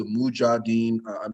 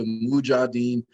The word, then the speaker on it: Mujahideen: we helped build up the Mujahideen. I'm pronouncing that wrong, but You got we it helped right. build. Oh, I did get it right. Okay, perfect. So we helped build up the Mujahideen.